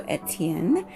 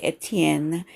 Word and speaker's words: Étienne: So Étienne. I'm sure native French speakers wouldn't lean so hard on that, because it's not, they're used to not pronouncing the last few letters sometimes of a word. So as a native English speaker, it is not incorrect to say Étienne and to lean on that N part at the end.